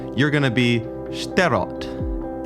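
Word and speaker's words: Shterot: Anyway, J, you're going to be sterott.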